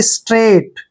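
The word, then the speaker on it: straight: silent हो जाते हैं एस का उच्चारण श करेंगे हम और टी को ट पढ़ना है आर को र पढ़ेंगे और ए आई ए की मात्रा पढ़ते हैं ठीक है और जी एच का उच्चारण हमने नहीं करना है टी को ट पढ़ेंगे यानी कि स्ट्रेट क्या पढ़ेंगे इसको स्ट्रेट और स्ट्रेट मींस होता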